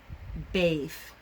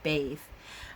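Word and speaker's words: Badb: And so there is the Morigu, Macha, which is spelled M-A-C-H-A, Macha, and Bave, which is B-A-D-B, Bave. And that is all in modern Irish.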